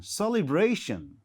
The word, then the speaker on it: celebration: another words like okay c e l e b r a t i o n so C bra all right so celeberation the stress falls on the third syllabus okay cration celebration we call it celebration all right so in